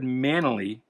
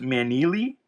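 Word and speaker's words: Maneely: Kid Colt Outlaw, that's probably Yep, a Joe Now, I always said Manally, but somebody in the comments, and I think it was probably Anthony Perdue.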